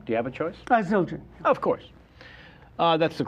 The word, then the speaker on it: Zildjian: Zildjian.